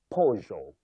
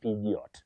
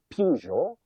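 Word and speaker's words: Peugeot: Avoid saying pediot. Many people innocently say pediot. I have bought a pediot. But that is not in English or even in French. You say pojo. Though some people can say pujo or pujo but pinot no just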